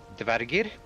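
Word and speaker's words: Dvergr: Yeah, so if you're going to pronounce them correctly, Dvargir, Draugr.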